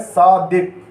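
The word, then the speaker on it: صادق: अगला जो है हमारा लफ्ज़ है वो है सादिक।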